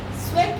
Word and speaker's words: Cvek: Sweck is CVEK. Yes, many of you mispronounce it.